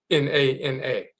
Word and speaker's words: Nana: This is how it's pronounced. Nana, Nana.